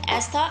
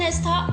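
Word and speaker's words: Estha: To pronounce Rahel and Astha, and for spellings is R-A-H-E-L, and Rahel and Astha, E-S-T-H-A.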